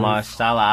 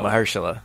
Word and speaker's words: Mahershala: I'm gonna go Mahershala Ali.